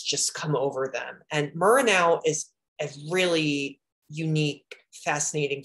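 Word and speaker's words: Muranów: Muranow, or Muranov, that's actually how you're supposed to pronounce it.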